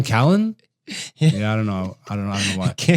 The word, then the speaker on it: Brian Callen: Like Brian Callahan. Why do you say it like Brian Callen?